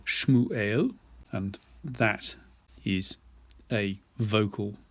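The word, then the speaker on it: שמואל: an example for you the name samuel which is pronounced shmu eo and that is a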